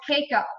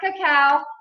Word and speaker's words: cacao: could admit this I wanted to call this cake up for so long let me see a raise